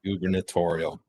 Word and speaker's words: gubernatorial: ] you Spencer you're fired Spencer you're fired gubernatorial um moving on yes sir what's on your